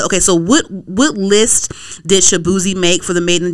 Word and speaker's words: Shaboozey: And Shaboozey was on the... Okay, so what list did Shaboozey make for the Made in the DMV?